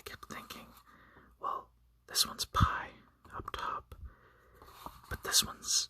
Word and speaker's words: pi: So pi is like a P in the English language, and without any aspiration, it is pronounced like the P in the word sap. So sap, p, p, p, pi.